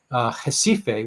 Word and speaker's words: Recife: a physician in um jessife which is spelled recife but pronounced differently uh northeast brazil tropical